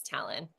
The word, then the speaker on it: Talyn: And then talon, you can think of like an eagle's talon. That's how Yeah. you pronounce it. It's talon. Talyn.